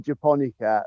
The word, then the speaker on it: japonica: And it's an anemone japonica. It's a Japanese anemone. Okay, so anemone japonica. Anemone japonica.